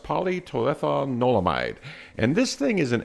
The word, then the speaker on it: Palmitoylethanolamide: pronounce the short name is paa and it's pronounced polyton olamide and this thing is an e endoc canabo